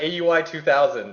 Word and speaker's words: Aui_2000: And we have AUI 2000, and that's how it's pronounced, and nobody's going to argue with me.